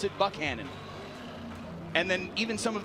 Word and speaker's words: Buchanan: town, because he said, Tim Buchanan said, you pronounce it Buchanan. And then even some of the assistant coaches from Aledo told me that night 2 years ago, yeah, no, it's Buchanan.